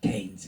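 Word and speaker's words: Keynes: I know it's spelled Kees K E Y N E S, but here in the village we prefer to pronounce it Kees.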